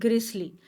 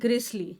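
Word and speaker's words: grisly: उसको इंग्लिश में कहते हैं ग्रिसली। उसको बोलते हैं ग्रिसली।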